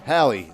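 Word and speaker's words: Halle: Did I say it wrong again this time? Hallie.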